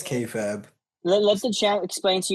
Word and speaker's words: Kayfabe: It's Kay Fab. Let the ch explain to you how it's actually pronounced.